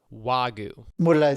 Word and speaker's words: Wagyu: It's Wagyu.